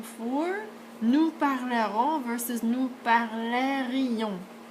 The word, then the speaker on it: parlerions: So you're listening for nous parlerons versus nous parlerions. So remember, you're listening more, well, you're listening for the I. Okay, so it adds another syllable.